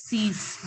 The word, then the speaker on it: six: SIX is pronounced as cease, not cease. It is cease.